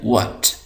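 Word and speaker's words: what: इसको हम पढ़ते हैं व्ट व्ट तो ये समझ ले कि ये एच है हम इसको नहीं पढ़ेंगे इसी तरह यहां पर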